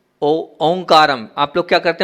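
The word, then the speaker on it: ओंकारं: हैं तो वहां क्या है वहां पर है ओं काम आप लोग क्या करते हैं उच्चारण क्या करते हैं ओम काम व ओमकार नम नहीं है वहां पर ओ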